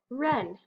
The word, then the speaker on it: wren: W-R, silent W, the word is wren.